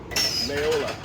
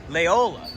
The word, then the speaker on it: Laola: Darius, how do you say this name? Laola. Laola. The Wave Laola. Yeah. The Wave Laola. Laola. Laola. Yeah, it depends on what context. I think it's Laola in this case.